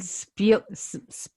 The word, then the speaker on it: Ed Speleers: And Ed Speleers, that's how you say it.